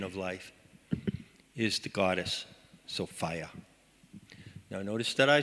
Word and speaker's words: Sophia: I like to say Sophia rhymes with desire. And there's a big element of desire in Sophia.